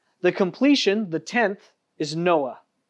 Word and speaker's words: Noah: rest in hebrews and noah's name is noah right it's one another one of those uh if you have like a cold just say his name and it'll clear your throat right out you'll be good just